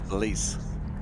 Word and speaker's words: Belize: It's not Belize, it's Belize.